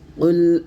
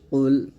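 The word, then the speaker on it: قُلْ: শিখবো আউজুবিল্লাহি মিনাশ শাইতানির রাজিম বিসমিল্লাহির রাহমানির রাহিম কুল আউজু কফ লাম পেশ কুল এই কফ উচ্চারণটা এমন ভাবে করবেন যেন কাফ না হয়ে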